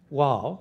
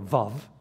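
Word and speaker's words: ו: And the next section, vav or vov as it's pronounced in modern Hebrew, um means roughly and.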